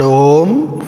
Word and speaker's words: Om: in our oral cavity, opening of the mouth, then its continued constriction, and then complete closure. All the three phases you should feel. Close your eyes. We are pronouncing the word Om 5 times, and you must not only feel the sound, you should also recognize how the oral cavity launches the Akara, then gradually transcends to Ukara, and finally terminates in Makara.